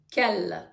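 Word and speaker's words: quel: до чоловічого роду однини Кел по вимові так само а те слово яке у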